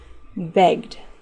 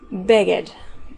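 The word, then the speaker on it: begged: de la palabra y sin pronunciar la e de la Ed es importante que no agregues otra sílaba Okay por ejemplo beg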